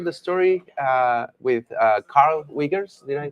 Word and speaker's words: Wiegers: come and share the story uh with Carl wiggers did I pronounce it well yes that's fine yes I'm